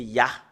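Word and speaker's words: יה: Et nous voyons très bien que le fait de prononcer le Yod et le He, c'est Ya.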